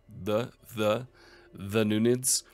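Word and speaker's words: Dhunnunids: and further weakening the Thununids. And I was told that it is pronounced like the Nunids.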